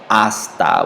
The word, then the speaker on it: hasta: Remember here, the H in Spanish is silent. So when we pronounce these three phrases, we're just going to say hasta without the H sound.